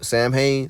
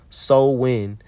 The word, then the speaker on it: Samhain: to November 1st when Sam Hayne so Sam Hayne was celebrated from October 31st to November 1st what what day is that that's Halloween the religious rituals of Sam hay pronounce Soul wi meaning Summer's end focused